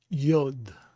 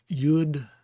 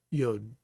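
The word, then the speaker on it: יוֹד: So it would be Yod, Yod. And I've heard people pronounce it Yud and Yad, but obviously the pronunciation is with a cholam, and that is the O sound, Yod.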